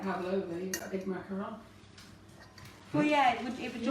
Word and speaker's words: macaron: But I think it's just pronunciation, but a macaron only has one O.